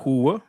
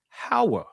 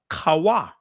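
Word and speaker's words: חַוָּה: Her name is not Hua. Her name is Hawa. Or Kawa. Either way, how you want to pronounce it.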